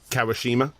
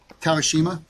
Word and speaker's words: Kawashima: want to mess up kawashima how is this pronounced kawashima kawashima um yeah the guy who did the problems